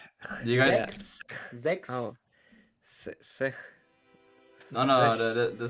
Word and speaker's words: sechs: sex. Sechs. Sex. Okay. Sechs. What? What? Sex? Nein, Sechs? kein X, no X, no X.